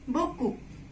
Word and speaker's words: beaucoup: Then P. It's at the end of word you will not pronounce, so it will, what it will be? It will be beaucoup. Beaucoup.